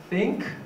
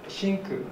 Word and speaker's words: think: out comes out so think think is often pronounced as chinku by japanese learners and also voiceless th